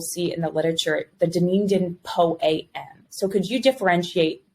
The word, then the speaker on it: Dunedin: And am I pronouncing that correctly, Dr. Moffitt? Dunedin?